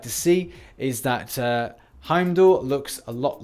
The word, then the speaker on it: Heimdall: Haha, that's a little micro joke there for the pronunciation thing. It's Heimdall, or Himdel, or Hemdek in the center.